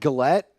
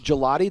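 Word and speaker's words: Gillotte: Is it Gillette? Gillette. Gelotty. That's how you say it.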